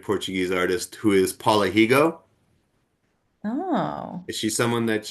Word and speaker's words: Rego: artist who is Paula Higo? Oh, Is she someone that you've discovered? I have not. Paula I Higo, her last name is spelled Rego. Paula REGO. Higo, yeah, she's a fascinating painter.